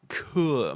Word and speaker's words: cœur: Oh, allo, mon cœur. It's pronounced cœur, my heart.